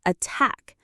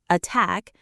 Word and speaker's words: attack: For example, in the word attack, the stress is on the second syllable, attack. So that t sound is very strong and clear. Attack.